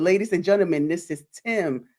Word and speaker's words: Time: But ladies and gentlemen, this is Tim. Spell time, but it's pronounced Tim, y'all.